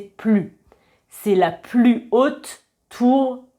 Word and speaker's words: plus: Et enfin, si le plus accompagne un nom, on va prononcer plus avec un S, par exemple.